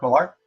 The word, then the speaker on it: Millar: This is Mark Miller, or Millar, how do you say it? The hell comics, bro. What's up, Alan? Dale Quinones. How do you say Mark Miller's name? Dale Quinones. Mark Millar. You say Millar? All right.